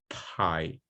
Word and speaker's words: pie: So if you say pai, as we say in Portuguese, probably a native listener will hear by. For you to make sure that your pronunciation is more accurately closer to a voiceless p, you need to pronounce pie, right? To eat a piece of pie, for instance, okay?